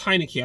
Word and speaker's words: Heinicke: I think it's Heinicke. I think that's how you pronounce his last name, like the fucking beer.